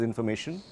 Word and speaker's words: Information: Diese Information, same spelling as information, but pronounced Information.